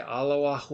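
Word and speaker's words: אלה: just say it now, I know it's not spelled like the Islamic God Allah or Allah when they say Allahu Akbar, okay, but it would be pronounced the same. It's Aleph Lamed Hey, and so it's Allah, and it's used to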